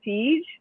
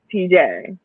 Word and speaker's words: Teej: Is it Teej or is it TJ? It's either or. Either or, whatever everybody feel comfortable with.